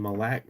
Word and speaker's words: Malik: Malik Malik. Malik. M A L I K. Mal Malik. Malik. Man, that's I can't pronounce that name.